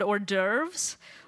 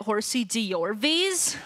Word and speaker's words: hors d'oeuvres: I recently had to publicly pronounce the word hors d'oeuvres, or as I said it, horsey d'orvies.